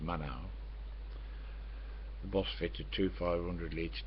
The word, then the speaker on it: Maenhout: Maenhout, M-A-E-N-H-O-U-T, pronounced Manau.